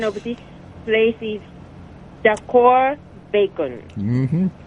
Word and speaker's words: DACOR Bacon: And then I am going to the place called, my I asked the AI, and then AI says pronunciation of this place is Decor Bacon. Mm-hmm. Decor Bacon House, right.